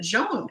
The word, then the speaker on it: John: from South Africa and his name was spelled John but he pronounced it jeon or something anyway my